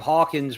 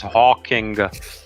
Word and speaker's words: Hawking: is very annoying when people keep mispronouncing his name his name was Hawking Hawking okay I want you